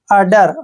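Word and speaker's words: udder: डी ई आर देखिए यू का उच्चारण यहां पर ए कर रहे हैं डबल डी को हम ड पढ़ेंगे और ई आर का उच्चारण र करेंगे अडर अडर मींस होता है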